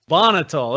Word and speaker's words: Bonhotal: apologize josh i didn't even ask how to pronounce your last name bonnitol okay i was way off yeah close enough